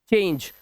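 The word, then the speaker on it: change: अब यहां पर ई जो है लास्ट में है तो इसे पढ़ते हैं बाइक, हमारा ये साइलेंट होगा, ठीक है। इसी तरह से लाइक, नेम, चेंज।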